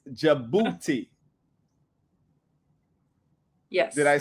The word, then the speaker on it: Djibouti: pronounce the name and they always mess it up trying to put the D, but the D is silent. So it's Djibouti, but it's pronounced Djibouti.